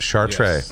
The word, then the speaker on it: Chartrey: And that's how you pronounce it, Chartrey.